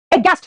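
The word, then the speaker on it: aghast: देखो बेटा, लिखा है अगास्ट, लेकिन बोलते हैं इसको एच साइलेंट, एगास्ट, फ्लैबरगैस्ट, डम्बफाउंडेड, एगास्ट, फ्लैबरगैस्ट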